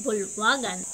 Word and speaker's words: bulwagan: Salita naman ay bulwagan ang tamang pagbigkas nito ay bulwagan ang bulwagan ay isang